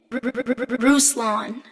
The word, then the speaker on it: Ruslan: Ruslan.